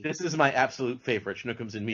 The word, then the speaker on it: Shnookums and Meat: is my absolute favorite schnooks and me and you have to say it like that because that's how hey that's how it said in in the cartoon plot uh this goes